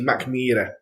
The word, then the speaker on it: Mackmyra: So most people say Mackmyra, and they pronounce it M-Y. Right, so Mac, everyone gets the Mac bit, not a problem. So yeah, so in the Swedish, it's actually Mackmyra. Mackmyra. So, listen, I'll say that. I'll say. Hopefully, everyone else can get that. Mackmyra. Everyone at home pronounce it properly. Mackmyra. Change the Y to a double E, so it'd be Mackmyra if you do it that like way.